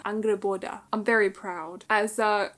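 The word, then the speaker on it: Angrboda: this is about and I've learned how to pronounce her name now angreboda angreboda I'm very proud as uh I'm Norris by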